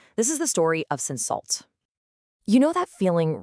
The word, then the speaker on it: Cinsault: It's called Cinsault, and you say it like Cinsault.